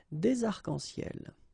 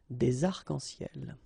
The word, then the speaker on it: arcs-en-ciel: Okay, you can see that as usual we don't really pronounce this final S, so phonetically it's almost the same, but then we've got this liaison between the two, des arcs-en-ciel.